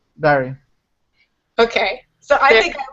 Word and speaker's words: Barry: we pronounce that name so how do you pronounce your middle name b b it's just Barry Barry okay so I think I win who won I think well I say Berry like a fruit now Jezebel the you wrote